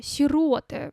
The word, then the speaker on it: сироты: Дальше сироты. Всё-таки сиротка это неправильно.